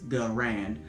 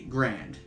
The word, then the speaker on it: Garand: There's a A there before the R, so it's Garand. But most people just say Grand, and kind of leave that A silent.